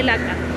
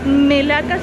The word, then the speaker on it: Melaka: to stay for a few days here me Melaca Melaca is said, or pronounced here, but it is spelled Malaca so